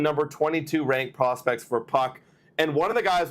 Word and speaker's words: Puk: for AJ Puck uh like not spelled like hockey puck uh I thought it was puke but it's Puck um a Puck is